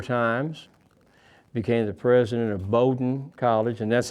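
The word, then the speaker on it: Bowdoin: of Maine four times, became the president of Bowden College, and that's how they pronounce it, Bowden. It looks like it's bowin b i n but they pronounce it very proudly. Bowden and he taught every class at Bowden except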